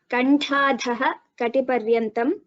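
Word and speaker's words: कण्ठाधःकटिपर्यन्ता: So there is a Visarga followed by Ka, right? That part. Yes, ma'am. Kantadha Kati Paryantam.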